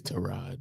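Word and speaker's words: Tyrod: Is Is that not how you pronounce his name? It is Terod though. See Terra Taylor.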